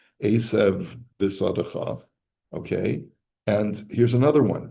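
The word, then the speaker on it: עשב בשדך: The word esev finishes with a vase, and the next word bisadecha begins with a base. It's the same letter, just one is hard and one is soft. And you therefore have to create a separation between the two. Esev bisadecha.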